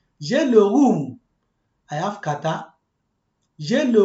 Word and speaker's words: rhume: See the word, it pronounced like the word room in English. J'ai le rhume.